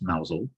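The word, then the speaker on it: Mousehole: little village called mousel it looks like mouse hole but it's pronounced mousel it also has a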